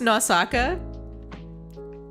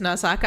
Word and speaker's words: Nausicaa: And right now, I'm pretty sure it's pronounced Nausaka.